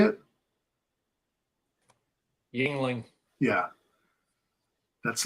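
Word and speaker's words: Yuengling: Yingling.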